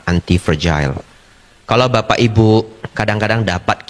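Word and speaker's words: antifragile: tapi ini sangat damai yaitu antipergil ya nulisnya anti fragile fragile pronounce-nya yang benar adalah antipergil kalau bapak ibu kadang-kadang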